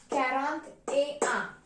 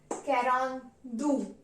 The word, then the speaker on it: quarante-deux: So 41 is pronounced as quarante-deux. Quarante-deux means 40 and 1. That is 41. A means and. Quarante-deux, 40 and 1. Then 42 is pronounced as quarante-deux.